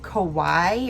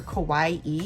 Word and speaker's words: kawaii: going to attempt so this first one is kawaii or kawaii it's spelled like hawaii but with a k this next one i